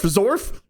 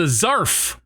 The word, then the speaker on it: zarf: If you pronounce the a weird, it's a zarf or a zorf if you're a yinszer.